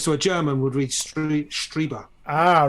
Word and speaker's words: Strieber: I think you said to me it was Strieber because it's German, isn't it? I'm just following German pronunciation rules. I-E is pronounced E.